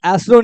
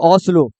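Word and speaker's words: Oslo: Norway Norway का capital ये एस्लो नहीं होगा ओस्लो यहां पे ओस्लो लिख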